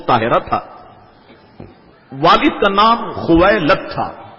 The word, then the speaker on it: خویلد: تھا۔ والد کا نام خویلد تھا۔ یاد رکھیے گا بعض لوگوں کو یہ پڑھنے میں دشواری ہوتی ہے، مگر میں نے اس کا آسان سا تلفظ بتا دیا، خویلد۔ یہ حضرت خدیجۃ الکبریٰ